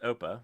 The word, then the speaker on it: OPA: they put op opa i'm pretty sure it's pronounced oppa which is like german for grandfather um in adopt but